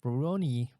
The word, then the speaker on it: Rurouni: pronounce it properly. Ruroni.